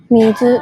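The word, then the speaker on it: 水: For your reference, the pronunciation is called Mizu. mizu. Okay. It's called mizu.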